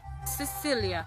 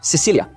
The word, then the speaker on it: Sicilia: Siccilia. Siccilia.